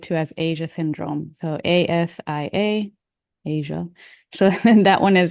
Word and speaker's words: ASIA: So ASIA, Asia.